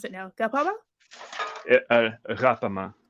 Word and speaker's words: Ghapama: Ghapama. It's kind of Ghapama. like the French R, like. Right. Or the Dutch Ghapama.